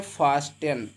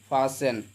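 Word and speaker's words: fasten: Example के तौर पर जाएंगे, यहाँ पे लिखा है फास्टेन। क्या लिखा है, फास्टेन, तो इसमें हम क्या करते हैं, टी को नहीं पढ़ेंगे बल्कि पढ़ेंगे फासेन।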